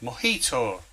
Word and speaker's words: mojito: the Friendly Ghost there's Tommy uh correcting me on my pronunciation again he's saying it's called mojito right so the correct answer